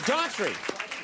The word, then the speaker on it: Daughtry: I always say it wrong. Daughtry. It's Daughtry. I always give it the Irish.